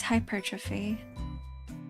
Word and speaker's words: hypertrophy: Why do why do we pronounce the word hypertrophy with the emphasis on the second syllable? It seems more logical to pronounce it with emphasis on the first syllable like every other word starting with the prefix hyper like hyperactive hyperorrection.